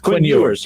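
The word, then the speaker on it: Quinn Ewers: Kev what's up next we got number two queen earns am I pronouncing his name right who Quinn you were Quinn yours yeah I'm Yours number one quarterback prospect in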